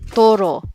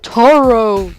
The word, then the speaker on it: Toro: uh it's so cringeworthy it's Toro you Ru the r Toro not Toro Toro oh gosh okay what